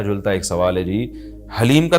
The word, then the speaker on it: حلیم: سبحان اللہ، یہ محرم میں لوگ حلیم بنائیں گے تو کچھ حلیم کو دلیم کہہ رہے ہوں گے، کچھ سلیم کہہ رہے ہوں گے، کچھ وسیم کہہ رہے ہوں گے.